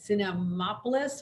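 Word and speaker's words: Cinemapolis: I believe we did this a year ago today at the Cinemopolis. Am I pronouncing that right?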